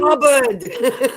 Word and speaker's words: Hubbard: Blubbered rhymes with Hubbard.